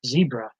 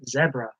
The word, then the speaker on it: zebra: a zebra was apparently Americans say it like zebra over here see they say zebra on the phone now